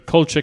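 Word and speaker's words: Kulczyk: investments this is the culture family i'm assuming that's how you pronounce it yeah yeah um like c yeah k k-u-l-c-z-y-k i know them they're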